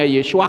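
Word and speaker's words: ישוע: Nah ini saudara lihat, Yod, Shin, Wa, Ayin. Ini membacanya Yesua, kepalanya 7.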